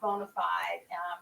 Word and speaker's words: BONA5D: to be here bonafide even though it's spelled different it's pronounced bonafide credit consultants llc on